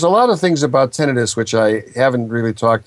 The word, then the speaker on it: tinnitus: Devox writes, what if you only have tinnitus?